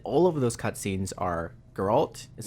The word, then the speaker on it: Geralt: And all of those cutscenes are Geralt, is how you Yeah. pronounce it? Sure. Geralt interacting with people, talking with people, or having events happen usually to him specifically.